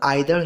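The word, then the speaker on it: either: मैं यहाँ बता दूँ, ईच, आइदर को हम ईदर भी पढ़ सकते हैं और आइदर भी पढ़ सकते हैं, बोथ आर करेक्ट प्रोनाउंसिएशन।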